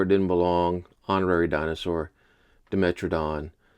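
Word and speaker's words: Dimetrodon: Honorary dinosaur Demetradon or as I used to call it as a kid, Dimetradon because Dime M is pronounced dime.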